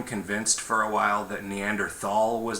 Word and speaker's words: Neanderthal: Are you just saying that because you're not pronouncing the H? Or because you're suggesting that the H isn't there? I mean, it's spelled T-H-A-L, but I think it's pronounced.